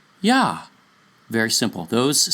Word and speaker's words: Yah: So, the first two letters form the sound Yah. Notice, not Y or you or yo or any other sound. It's Yah.